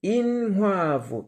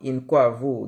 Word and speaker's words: inkwavu: Donc, évidemment, inkwavu, donc il faut bien prononcer inhuavu. Oui, ça fait partie de l'apprentissage de la langue, il faut bien le prononcer. Inhuavu, hein, et non pas inkwavu, inhuavu.